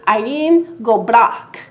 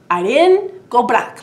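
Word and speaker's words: Éirinn go brách: In the story time, I did share with you the correct way to say Ireland forever, which is Éirinn go bhraic. Éirinn go bhraic.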